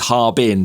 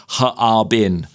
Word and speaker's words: Harbin: Yeah, so when when you read it, it looks like it's Harbin, two syllables, but it's actually Harbin. So, it's three cuz it's three three characters in Chinese.